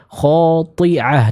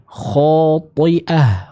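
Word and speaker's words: خاطئة: Dan kesalahan yang sering saya temukan di sini adalah seorang membaca dengan huruf ain, khati'ah. Nah, ini kurang tepat. Yang tepat seperti apa? Dibaca dengan hamzah, khati'ah, khati'ah.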